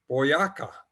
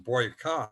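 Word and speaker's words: Boyacá: to this place called boyaka i was pronouncing it wrong in the first place i was on some boy car but it's bo yaka and so luckily they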